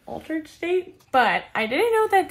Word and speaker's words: Altar'd State: Oh, I splurged at Altered State. I'm pretty sure that's how you say it, Altered State.